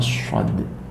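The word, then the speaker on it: ص: ya, zai, sin, sama shod. Zai, sin, shod. Jadi huruf ke-13, 14, 15 zai, sin, shod itu satu rumpun yang tempatnya di mana, yaitu ujung lidah dengan rongga antara gigi atas dan gigi bawah, dekat dengan gigi atas.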